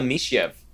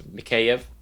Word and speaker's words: Mikheyev: is a rookie Ilya me chef I think eyes we learned that that's not how you say it right it's mikheyev Makia okay okay 1555